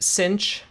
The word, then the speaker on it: sinh: And sometimes this is actually pronounced sinh.